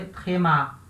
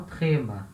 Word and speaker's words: tréma: maioria gigantesca das palavras, elas vão ter a sílaba tônica no final, tá? A última sílaba é a sílaba tônica. Na maioria gigantesca das palavras, como nesse caso a gente lê tréma, tá?